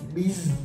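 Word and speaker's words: Beez: Namanya tuh panggilannya Biz. B-E-E-Z. Bacanya Biz. Kota. Kok kota? Biz Kota. Maaf nih. Ya itulah gitu. Bis. Ya, secara bacanya bis.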